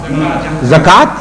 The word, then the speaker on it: zakat: Zakat. I'm sorry. Zakat. Zakat, yes. I understand now. I thought you said jihad because you pronounce Z like J, so I thought perhaps this is what you meant.